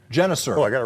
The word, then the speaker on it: Genuser: how's it pronounced? Genuser? Genuser. Genuser.